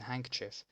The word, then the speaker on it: handkerchief: Nobody pronounces the D in handkerchief, and for most people removing the second E seems obvious too, right?